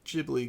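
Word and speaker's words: Ghibli: I'm saying that wrong I know there's multiple pronunciations but that's the one that I've been taught so I'm sticking with it yeah I jibi gibli whatever you know what we're talking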